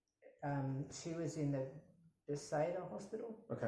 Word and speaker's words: Bethesda: And she was in the Bethesda Hospital. Okay. How do you say it? Bethesda?